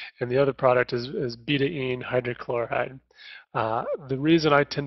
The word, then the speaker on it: betaine: And most people call it betaine, and recently I've read that it's appropriate or proper pronunciation is betaine, betaine. And that was primarily because it was derived from beet, and it's a chemical bond, whatever.